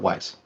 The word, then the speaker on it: Weis: Bruce, is it Weiss or Weiss? I always say Weiss, but I think I say it wrong. It's Margaret Weiss.